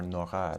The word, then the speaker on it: Nora: that the French intellectual Pierre Nora, or Nora to give it its French pronunciation, called the lieu de mémoire, translated either as sites of memory or realms of memory.